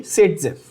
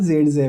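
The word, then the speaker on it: Zaitsev: तो आपके लिए, इंडियंस के लिए सेट-जेफ, ठीक है, बट असल में नाम जेड-जेव है, ठीक है, बट आपकी बुक में सेट-जेफ दिया है, ठीक है ना।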